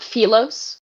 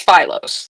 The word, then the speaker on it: Philos: think it might be Is it on Philos? Is it not Felos? No, we have established that in our hearts it's Philos. Yeah. Okay. Well, I'm going to pronounce it correctly.